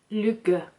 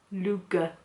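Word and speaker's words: lykke: i did find out how to pronounce luger which is l y k k apparently if there's any danish out there i really apologize um yeah uh which means happiness and they are amazing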